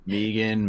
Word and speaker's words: M3GAN: with this movie Megan M3 G yeah it is how I've heard it pronounced Megan Megan Megan they all